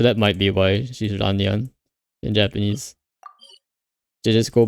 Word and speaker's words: Lan Yan: Well, it's probably because the character of Yen is just pronounced like Yan in the Japanese, so that might be why she's Ranyan in Japanese.